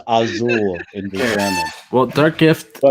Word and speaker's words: Asyl: says I think it's pronounced ail no it's asile assle assle it's technically it's pronounced aul in German well Dark Gift um but we're